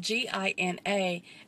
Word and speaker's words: Gina: Her name is spelled G-I-N-A, and the guy pronounced it Gina. No.